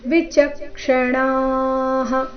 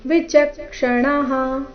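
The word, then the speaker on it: ವಿಚಕ್ಷಣಾಃ: ಅನುಸ್ವಾರದ ಉಚ್ಚಾರ ನಾಸಿಕಾವ ಮುಂದೆ ವಿಚಕ್ಷಣಾಹ ಇಲ್ಲಿ ವಿಚಕ್ಷಣಹ ಈ ರೀತಿ ಇಲ್ಲ ವಿಚಕ್ಷಣಾಹ ಅಣ ದೀರ್ಘ ನಂತರ ವಿಸರ್ಗದ ಉಚ್ಚಾರಣೆಯನ್ನು ಹೇಳಬೇಕು ನೋಡುವ ಪೂರ್ತಿ ಶ್ಲೋಕ ಮೂಲಗೀತೆಯ ಪ್ರಕಾರ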